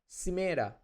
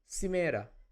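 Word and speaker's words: σήμερα: Simera. Simera means today. See, I'm emphasizing this portion, right? Whenever there will be an accent, it has to be emphasized. Simera.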